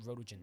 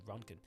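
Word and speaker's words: roentgen: That's it's not Rodogen. It's actually Ronkin. That's how you pronounce it.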